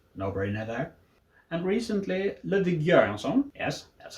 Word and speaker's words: Göransson: And recently Ludwig Göransson, yes, that's how we pronounce it, for his work on The Mandalorian, which was a very fresh take on the Star Wars material.